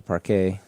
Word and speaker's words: parquet: Maybe the first thing I do is convert it to either probably I convert it to parquet. I'm going with that Frenchish pronunciation as well.